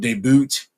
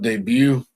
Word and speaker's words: debut: me in stream because I kept saying NFL deboot instead of NFL debut um the guy guy had a meltdown in